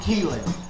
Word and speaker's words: Keeling: Oak Hill became known as Keeling, but as the locals say, Keeling.